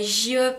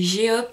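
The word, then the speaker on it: J-Hope: Et j'ai fait attention aux prononciations là. Donc c'est pas J-Hop, hein, c'est G-Hop.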